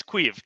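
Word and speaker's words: Caoimhín: But it's Queeve. It's Irish.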